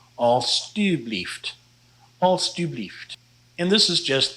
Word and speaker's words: alstublieft: then you want to change that J-E to T-U and pronounce it alstublieft.